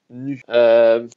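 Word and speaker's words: ν: c'est en fait c'est la lettre grec nu ça se prononce nu donc c'est l'équivalent c'est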